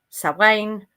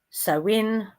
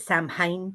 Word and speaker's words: Samhain: third harvest which is uh sane sin depending how you want to pronounce it. Just don't pronounce it sam hayne please.